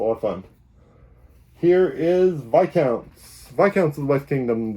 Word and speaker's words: Viscounts: Paladins, and now it's Viscounts. Viscounts is, I don't know. I'm not pronouncing the S, and it's not because of a rare bone disease or anything. You really don't pronounce the S in Viscounts.